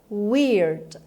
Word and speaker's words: weird: Weird. Weird. Weird. این رو weird هم ممکنه بشنوید و weird که بریتیش میشه و آر توش تلفظ نمیشه. ولی خب تلفظ امریکن بر اساس دیکشنری لانگمن weird هست.